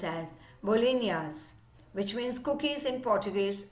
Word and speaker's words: bolinhas: This traditional Goan cookies, bolinas, pronounced as bolinhas, which means cookies in Portuguese, and coco means coconut.